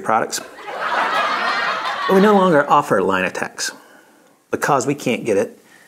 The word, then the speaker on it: Linatex: time there line attacks line attacks that is actually how it's pronounced line attacks and i